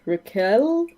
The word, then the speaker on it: Raquel: say your name well my actual name is Raquel good it's just Rachel in English I think that's easier